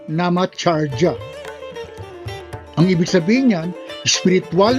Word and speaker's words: Namacharya: Ang bigkas dyan ay Namacharya o Namacharya.